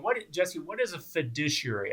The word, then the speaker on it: fiduciary: Jesse what is a fiduciary a Thai douchey area I spelled it out phonetically there fiduciary um well it's a